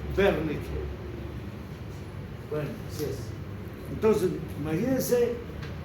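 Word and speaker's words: Wernicke: verneque importante wque wque se escribe pero en alemán se se dice vernique bueno así es entonces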